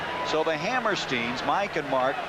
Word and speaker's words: Hammerstein: We went up and said, is it Hammerstein or Hammerstein? Well, the kids told us Hammerstein. Then he came back and said, yes, he says, I think it's Hammerstein. They don't even know how to pronounce their last name. Their dad's been called both, so we'll say Hammerstein today.